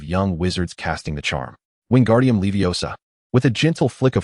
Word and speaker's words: Wingardium Leviosa: Okay, the incantation is wingardium leviosa. Pay attention to the pronunciation, young wizards. It is wingardium leviosa. Remember that gar must be pronounced long and clear.